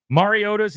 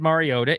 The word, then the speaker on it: Mariota: When in fact, Mariota's name is not said Mariota. It said Mariota. He was right. We were wrong.